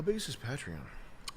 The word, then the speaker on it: Patreon: I say it wrong because it's Patron. So, it should be Patreon.